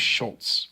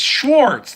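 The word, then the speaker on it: Schwarz: Like, Gates is standing on top of a building, so I want to say his name's Schultz. No, it's Schwartz.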